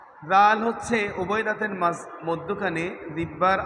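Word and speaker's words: ذال: সম্মানিত হাজিরিন সম্মানিত ভিউয়ার্স আমরা খেয়াল করব কোথায় কোথায় আমরা ভুল করি আমরা জাল অনেকে জাল উচ্চারণ করতে জানি না জাল হচ্ছে উভয় দাতের মধ্যখানে জিব্বার আগার উচ্চারণ করতে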